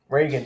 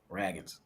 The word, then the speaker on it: Ragans: Shout out Cole Ragans, man. Reagans. You got to say his name right. Cole Reagan. Ragans.